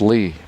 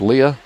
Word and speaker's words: Lea: And there's one of the names spelled L-E-A. But when you talk to the sisters, they say it's pronounced Lee. But you look at it and you think Leah.